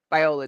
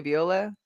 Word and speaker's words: Viola: Viola Davis to play Biola Davis yeah would I say Viola yeah you've mispronounced the